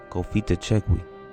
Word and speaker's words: Cofitachequi: Let's get that pronunciation one time. Cofitachequi.